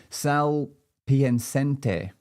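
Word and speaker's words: Sal Piacente: Sal Piancente. He has a wired expose. That's pretty cool. Sal, maybe I'll spell it for you.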